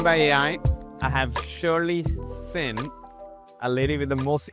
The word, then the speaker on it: Senn: like like we get sheen, shawn, I just say just think about sinning at church. So, just take the i n g off and so it's pronounced Sinn.